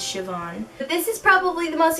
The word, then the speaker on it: Siobhan: by Siobhan Vivien and or say Bahan if that's how you pronounce it but I know it's Siobhan this is probably the